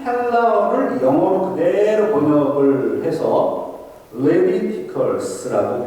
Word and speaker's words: Leviticus: 그래서 이 레위티콘을 헬라어를 영어로 그대로 번역을 해서 레비티커스라고 표현합니다. 레비티커스 이렇게 발음해서 레비티커스 이렇게 표현을 하죠.